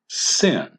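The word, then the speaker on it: שׂין: If the dot is on the left, then it is pronounced s and is then called a sin.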